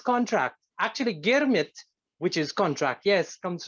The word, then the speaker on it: Girmit: Actually, Girmit, which is contract, yes, comes from the words agreement, so that the pronunciation of agreement by indented laborers in their way of pronouncing agreement was Girmit, and that happened in